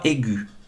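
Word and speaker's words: aiguë: par exemple une voix aigue le tréma est sur le U pour indiquer qu'il se prononce et que le E est muet on ne l'entend pas ah d'accord et tréma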